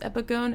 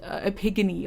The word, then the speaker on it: epigone: i'm just an imitator i honestly didn't know how to pronounce epigone until i wrote like this right up about the lyrics i thought it was epigony like an ancient greek god or something but anyway i feel